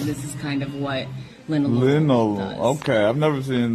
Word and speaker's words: linalool: Linalool? Linalool. Oh, God. Spell it So we like to give customers kind of they could take a picture of this.